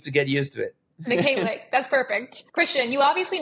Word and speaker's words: Mykhaylyuk: Today we have our good friend, Mykhaylyuk. did I pronounce that correctly?